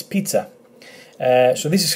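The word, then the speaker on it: πίτσα: e, p, and then t, and then a, pizza, pizza, which is obviously, I don't need to say where it is, it's pizza.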